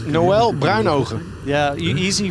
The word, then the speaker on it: Noël: calling him Noah Brinegar know it's easy it's Noel but I know yeah easy for you Alex